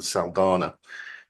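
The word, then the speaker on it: Saldanha: The standard case on it is a case I think I mentioned called Shell Investments in Saldana. That's the way you pronounce it, back in the 1976, I think,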